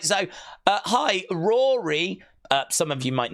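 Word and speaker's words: Ruairi: pronouncing it in English Rory Rory in Irish it is often said as Rory so it's Rory it's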